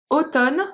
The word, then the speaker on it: automne: Automne, so we say automne. We don't say automne. We say automne. It's just the N. We don't pronounce the M.